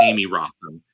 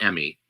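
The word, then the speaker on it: Emmy Rossum: She says it Amy. That's what I read, is that she says Amy Rossum, not Emmy. I've never heard her say it Emmy in interviews.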